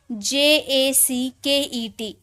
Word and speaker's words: jacket: ठीक है, अब है JACKET। अब देखिए ए यहाँ वर्ड है ना, ए से पहले आपका जे आया है तो इसे ज में पढ़ेंगे तो हो जाएगा जैकेट।